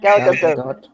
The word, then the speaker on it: Gadot: Her last name has a T in it. She's not French.